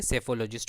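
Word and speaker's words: psephologist: Next है हमारा सेफोलॉजिस्ट। यहाँ पे पी साइलेंट है, क्या होगा ये, सेफोलॉजिस्ट होगा, जिसका मतलब क्या होता है, वन who studies the pattern of voting in election.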